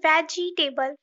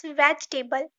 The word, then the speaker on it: vegetable: Wednesday not quite nasty don't say veggie table it's vegetable vegetable often no it's